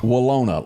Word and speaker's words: Willona: Willona, like Winona, but With Will.